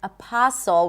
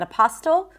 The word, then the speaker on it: apostle: Then the word apostle. We do not pronounce the T there. Not apostle. Apostle.